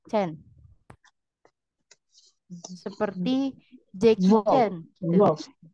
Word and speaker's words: zehn: Kalau 10 itu penulisannya ZEHN tapi dibacanya Chen. Zen. Ya, Chen.